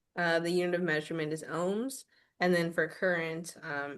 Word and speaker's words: ohm: Yeah, so it's pronounced ohms, everyone.